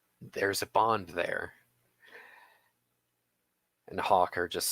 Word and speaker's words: Hakr: His name is Hawker. That's spelled Hakr.